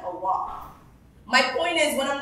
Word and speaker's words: Allah: By the way, it's Quran, Hajj, and Allah.